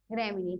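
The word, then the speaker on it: Gramineae: भी आ जाएगा क्योंकि ई ई ए ई जो है क्या पढ़ा जाता है, उच्चारण ई पढ़ा जाता है, ग्रेमिनी। ठीक, एपोकार्पी, एपोकार्पी के अंतर्गत बात करें तो नायोडेसी, एलिसमेसी।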